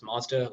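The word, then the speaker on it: M3SDA: simulation or M3 SDA which we pronounce Mazda like the car manufacturer now Mazda has a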